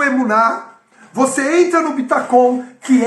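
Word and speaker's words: ביטחון: Mas a pronúncia, eu fui procurar a pronúncia, é bitacon, ok?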